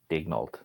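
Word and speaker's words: Daigneault: But there was an interview with Mark Daniel. Is that how you pronounce it, or Daniel, right? Sorry, say it again. It's pronounced Mark Daniel, right? I think it's Daignault. No, Daignault. The G isn't silent.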